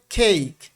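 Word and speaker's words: cake: কেক কেক কেক হ্যাঁ এভাবে বাংলাদেশে বলা হয় সবাই আপনি দোকানে যান যেখানে যান সবাই বলবেন কেক কেক পড়ানো হয় কিন্তু আসলে এর উচ্চারণ হবে খেইক সি এর উচ্চারণ খ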